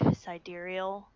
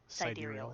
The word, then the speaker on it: sidereal: i don't know i kind of liked like sidereal saheeda ooh how do you say that how do you spell that uh s i d e r e